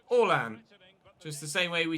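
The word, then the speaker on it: Erling Haaland: all ant rather than harland but in norwegian it's pronounced so i pronounce it orlan just the same way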